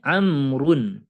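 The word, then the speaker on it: عمرو: Kalau tidak memakai waw, ini umaru, mamnu minas sorof. Kalau ini amrun, amr, amr, amrun.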